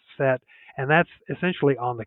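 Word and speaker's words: Sète: set so that's se but it's pronounced set and that's essentially on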